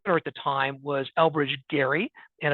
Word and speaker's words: Gerry: the time was Elbridge Gary and it is pronounced with a hard G and so even to